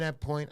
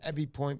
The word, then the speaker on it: Ebb Point: But tonight, and I believe in Ebb Point, I like to call them Ebby Point because of the 2 B's. It's pronounced Ebb Point.